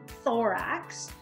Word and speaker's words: thorax: It's a weird word, thorax. It rhymes with Lorax, like that Dr.